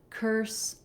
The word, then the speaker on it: curse: So the difference between curse and coarse is having the versus the or sound. So one sound static, or we're kind of gliding. It's a diphthong where we have a little bit of rounding at